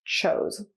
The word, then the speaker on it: chose: Now the difference is now it's past tense, and the verb in its past form only has one O and is pronounced chose.